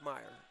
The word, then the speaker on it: Mayor: time and experience so mayor is it Meer or mayor May Meer 15 spelled mayor but it's pronounced Meer according to coach Lang so if we're saying